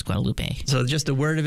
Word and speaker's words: Guadalupe: guadalupe hmm all right so guadalupe how do you say that i think guadalupe yeah that's good i'm thinking spanish is guadalupe so just a word